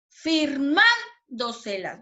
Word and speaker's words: firmándoselas: Siguiente, firmándoselas. Firmándoselas. ¿Dónde sonó más fuerte? ¿Dónde lleva la sílaba tónica? En la sílaba man, ¿cierto?